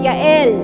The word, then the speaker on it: Jael: And the name Jael pronounce Yael pala.